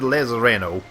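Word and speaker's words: Lezareno: Okay, he calls it Lazareno. I call it Lazarino. It's just a weird word to pronounce, man. And I'm just gonna keep calling Lazarino because that's what I feel comfortable with.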